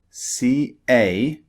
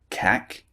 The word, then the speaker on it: cake: For example, cake, C-A-K-E, is not pronounced cack, it's pronounced cake.